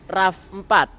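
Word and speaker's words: RAV4: Secara ejaan tulisannya R A V4. Nah, kenapa kok namanya RAF 4 atau orang lebih suka menyebutnya sebagai ra?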